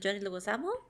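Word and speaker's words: John Leguizamo: Yeah, she is u Mirael Madrial and you can obviously hear John Leuisamo and that's how it's pronounced. Mhm. John Luisamo.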